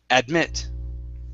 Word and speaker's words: admit: next is admit okay here the stress is at the very end instead of admit it's admit admit okay very good and